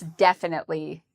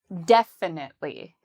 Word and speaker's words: definitely: Well, this adverb has the stress on the first syllable. So we would say def, very strong and loud. Definitely.